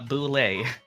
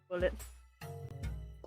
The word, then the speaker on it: boule: Well, eventually, it's enough that everyone recognizes a boule. Oh no. Oh, Let me. oh, that's how you pronounce it. I always just read it as bullet. Same. It's a boule.